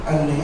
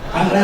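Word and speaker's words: أنّى: ra'aita rabbaka qala nurun anni arahu. Lah yo masih aneh kan. Anna arahu. Jadi bacanya itu gitu, Allah itu nur, bagaimana saya bisa melihat?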